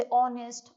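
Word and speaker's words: honest: भी एन आता है जैसे ऑनेस्ट आर हायर तो यहां पर जो एच रहता है वह साइलेंट रहता है और इसको हम आर पढ़ते हैं इसको ऑनेस्ट हायर नरेल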